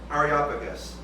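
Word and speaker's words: Areopagus: it's supposed to be said is Ario Arop Aropagus in the town of Aropagus.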